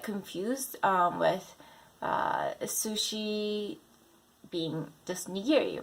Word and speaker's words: nigiri: A lot of people say nigiri, but it's nigiri.